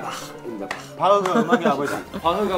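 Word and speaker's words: Bach: 바흐의 정확한 발음은 바흐입니다.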